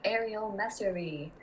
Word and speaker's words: Arial Messerli: I'm Arial Messerli.